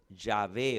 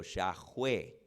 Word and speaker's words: Yahweh: Se pronuncia Yahé o Yahweué. Yahé. Yahué o Yahweh.